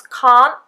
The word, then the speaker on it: can't: Very often when the T goes between two consonant sounds, can't, with the N sound, and do, d, very often in this case we would have a disappearing T.